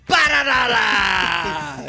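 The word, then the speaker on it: Perenara: Okay, how do you pronounce the New Zealand number 9's name? Paranara!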